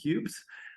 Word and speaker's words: Kubes: to hear from cubes just like ice cubes so if you wonder